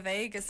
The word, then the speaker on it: vagus: that yes so the vegas nerf i think the only thing it has in common with las vegas is the pronunciation but it's the it's